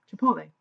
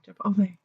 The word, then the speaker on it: Chipotle: You know, people always say that about Taco Bell, but no, Chipotle. Sorry, Chipotle.